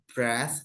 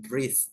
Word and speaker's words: breath: itu ya Jadi kalau Breath nafasah itu bacanya adalah Breath ya bukan bre Kalau yang ini yang